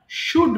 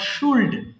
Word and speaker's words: should: উল্ড শুড হবে না এল এর উচ্চারণ করা যাবে না কেমন এটা সিম্পলি আমরা শুড বলবো নট শুল্ড ওকে এবার তোমরা পড়বা